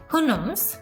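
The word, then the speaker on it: Houyhnhnms: The country of দ্য, এটার উচ্চারণটা ছিল হুনমস, বাট এটার বানানটা খুবই কনফিউজিং। সো এখানে অনেক ধরনের জিনিসপত্রকে তারা অ্যাকচুয়ালি মক করে এই লেখাটাতে।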